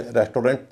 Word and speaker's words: restaurant: एयू के दूसरे उच्चारण भी होते हैं, जैसे उसका अ उच्चारण होता है RESTAURANT। इसमें एयू का उच्चारण ओ नहीं होता, इसे रेस्टोरेंट नहीं कहेंगे, इसे कहेंगे रेस्टोरेंट, रेस्टोरेंट या रेस्टोरेंट। इसके और भी उच्चारण प्रचलित हैं, जैसे रेस्टोरेंट या रेस्टोरेंट, रेस्टोरेंट या रेस्टोरेंट।